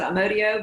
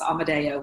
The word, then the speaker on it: Amadeo: It is, some people pronounce it Amadeo, but the Italian pronunciation is Amadeo, which is the one I prefer.